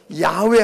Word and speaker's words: 야훼: 여호와라고 번역되어 있는 소위 야훼, 발음을 그대로 하면 야훼 하나님이신데 이 야훼 하나님, 여호와 하나님은 영원하신 분이다.